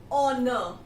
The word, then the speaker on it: honor: In here, and honor. H is again silent here.